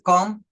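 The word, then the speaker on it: comb: and b o MB okay again here we pronounce these words as Comm and bom uh then you can find out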